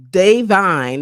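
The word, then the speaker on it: Da'Vine: Google uh, Davine. It's DA, but it's pronounced Day, but DA apostrophe.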